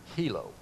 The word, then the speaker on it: Hilo: we just threw up, the I is not pronounced as an I in Hawaiian. It's pronounced as a long E or a double E. So this word would be hilo.